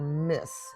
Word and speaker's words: Myss: There's Caroline Myss, or Miss, MYSS, who explores intuition, energy, archetypes, and emotional healing.